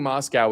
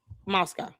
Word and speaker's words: Moscow: She went on and on just like Tucker did about how amazing Moscow is and how much better it is than the United States.